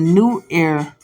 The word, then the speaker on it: Nuer: Evans Pritchard's analysis of the New Air word for spirit, which is spelled Nuer, and Leach's analysis of the word Trobriand word taboo offer cases in point.